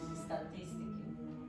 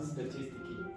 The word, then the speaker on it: statistics: Statistics. Not statistiki. Statistics. Statistics. Not kiss.